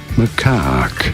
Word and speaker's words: macaque: I can't pronounce the name. How do you say that? Macaque.